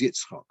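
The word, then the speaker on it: יצחק: say my name is yitzhak so the herik is followed by sadiq with the shiva that's a silent that's it becomes yitz there's a hyphen between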